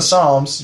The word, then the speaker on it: Psalms: there's something in the Psalms. You were about to say Psalms, I know you were. You were about to say there's something in the silent P gets me again.